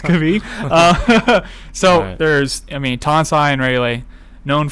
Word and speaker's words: Krabi: Well, we're going to be going to Krabi, or Krabi as we were made fun of for calling it. I guess it's properly pronounced Krabi.